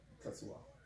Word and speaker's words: Tetsuya: Say it like Tetsuo. No, Tetsuya.